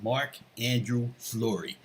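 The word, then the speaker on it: Marc-André Fleury: First off, when you pronounce his name, you have to say it all like that. Marc-Andrew Fleury.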